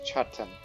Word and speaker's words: Chatin: It's Chatin. That's how you say his name.